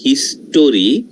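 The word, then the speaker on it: history: এবার পরেরটা আমরা আসি হিস্টরি এখানে ও এর উচ্চারণ হবে না ওকে ও এর উচ্চারণ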